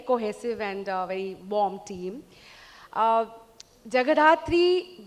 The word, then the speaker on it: Jagadhatri: Jagadhatri, Bengali में अगर बोलूँ जगहोधात्री, being a Bengali, I would want to pronounce it that way, is जैसे show का नाम भी है, माँ दुर्गा का ही एक रूप है.